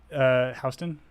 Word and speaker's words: Houston: It was then pronounced Houston. It was Houston. Yeah, New York, they pronounce it Houston, like a fucking group of idiots.